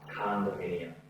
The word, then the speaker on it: condominium: Condominium. C-O with a ka. Condominium.